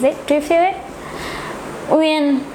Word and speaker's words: Uyên: Uyên, pronounce it. Uyên, Uyên, Uyên.